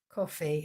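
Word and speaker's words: Ko-fi: And yesterday I went onto um onto um a new platform called coffee and it's spelled ko dash fi.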